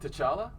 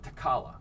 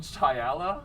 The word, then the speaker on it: T'Challa: i think t'challa t'challa i've heard t'challa and i've heard takala really yes and both those are actually fun that's fair yeah one time though i heard some idiot call him chayala and then silent i was like the t is silent and then you throw